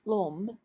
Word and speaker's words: l'homme: Le homme becomes l'homme, pronounced l'homme, as le ami becomes l'ami.